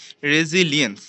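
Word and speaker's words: resilience: human ambition and রেজি রেজিলিয়েন্স sorry রেজিলিয়েন্স এটার উচ্চারণ হবে রেজিলিয়েন্স রেজিলিয়েন্স ইউনিসি চমৎকারভাবে অপূর্বভাবে ধারণ করেছে স্পিরিট অফ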